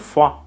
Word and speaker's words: froid: Notice that the D sound at the end of froid is silent.